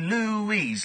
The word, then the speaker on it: Louise: Because Louise is such a great name. Louise. You can make people chanting. It's 2 syllables.